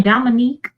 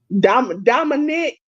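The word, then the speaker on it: Dominik: I told AEW the greatest thing I saw this weekend is Dominic Mysterio getting booed at his own wedding. Who? Dominic Mysterio. You know you saying Dominique instead of Dominic. Dominic.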